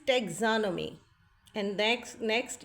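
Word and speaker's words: taxonomy: genetics then we will study about molecular biology and pathology ecology marine biology immunology morphology एनाटमी histology physiology टेोनोमी the word is टेग्जोनमी and next next ये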